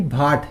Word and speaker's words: baht: Thailand की capital है आपकी बैंकॉक, और वहां की करेंसी है आपकी भाट या बहत भी बोलते हैं इसको। ठीक है, भाट या बहत कुछ भी कह लो आप, BAHT इसकी क्या है स्पेलिंग है।